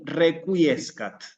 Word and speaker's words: requiescat: Y requiescat.